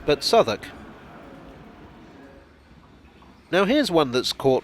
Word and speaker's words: Southwark: like it should be ruiz lip but it's pronounced ricelip this station is not south walk but southwark now here's one that's caught me out in